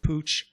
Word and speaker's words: Puch: that were made by, I think it's pronounced Pooch. Yeah. Austral Daimler. Puck. Same. You get different kind of pronunciations from. Anyway, it's PUCH.